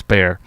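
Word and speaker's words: Bexar: It's not Beexar County. It's spelled Beexar, but it's Bear.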